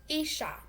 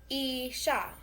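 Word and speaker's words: 医者: Isha. Isha. Spelled I-S-H-A.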